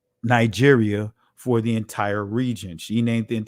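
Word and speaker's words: Νίγερ: But this is how you properly pronounce that word. Strong's G 3526. Niger.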